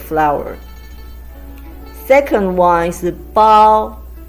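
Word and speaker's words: 包: Second one is the bao. It's a combination of bo and ao we have learned from the previous video.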